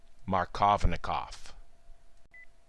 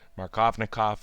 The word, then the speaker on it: Markovnikov: the spelling of it if I was to use a more accurate Russian pronunciation I believe it would be closer through my colony call but let's not get too picky markovna cough is defined as the